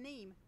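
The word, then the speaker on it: Nîmes: so I got corrected on my pronunciation of neem and I would thank Nicholas C on Twitter for correcting me on that one anyway it is neem as we're all saying it and he said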